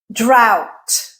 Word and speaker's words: drought: Drought. Okay. So, the u gh is still making the sound, but there's a t at the end and you're adding that t.